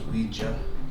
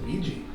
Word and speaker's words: Ouija: interesting different even books dude Ouija they're showing how it's pronounced I didn't even know it was Ouija yeah I know me either I think all of us have always said Luigi well there's a lot